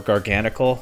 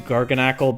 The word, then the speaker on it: Garganacl: this Moranga Berry Garganle uh or Garganle. I'm not really sure. Uh I default to Garganacle because Knackley Knackle stack garacle. It seems to kind of fit, but Garganle might actually be the intended pronunciation.